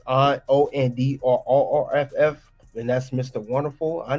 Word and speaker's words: Orndorff: And it's Ondorff, and that's Mr.